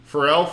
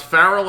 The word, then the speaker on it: Pharrell: Pharrell, final answer. Yep. A guy that Bradley would often pronounce Farrell, I'm sure, is correct. Pharrell is correct.